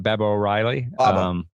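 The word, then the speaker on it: Baba O'Riley: right like um baba was it am i saying it right babe o'reilly okay i was saying it was barbara and they left out the r but uh baba baba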